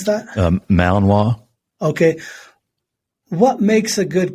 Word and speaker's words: Malinois: a dog question no please do why why malamu belgian malamu i mean how do you pronounce that malinois okay what makes a good combat dog and